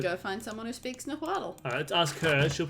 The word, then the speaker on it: Nahuatl: That was Nahuatl, not Nahuatl.